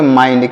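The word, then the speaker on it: mind: तो इसे क्या पढ़ेंगे माइंड क्या पढ़ेंगे माइंड एम आई एन डी माइंड यहां पर आई का उच्चारण आई हो रहा है माई माई माई तो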